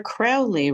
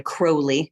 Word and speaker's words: Crowley: a prayer that Alistair Crowley wrote sorry Crowley got to get the pronunciation right that we Americans tend to say it wrong that Alistar Crowley wrote